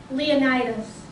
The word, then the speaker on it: Leonidas: Okay, so I looked up how to pronounce that name. I thought it would be pronounced different, but it's Leonidas.